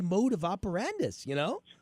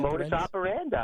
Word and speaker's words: modus operandi: That was kind of his mode of operandus, Operandi? Is that how you say it? Operandi? Modus operandi. Yeah.